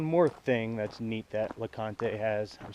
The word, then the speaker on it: LeConte: So one more thing that's neat that LeConte has, LeConte, I keep wanting to call it LeConte, this is how it's spelled, has to offer is the LeConte Lodge,